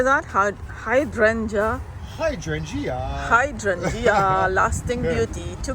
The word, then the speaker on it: hydrangea: the hydrangea hydrant how do you say that hydrangea hydrangea hydrangea lasting beauty two gallon pot this